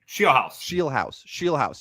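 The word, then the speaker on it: Scheelhaase: Shielhouse.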